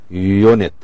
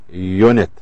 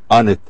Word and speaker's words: unit: We say unit, unit, not unit, not unit. So in this case we consider U as a consonant.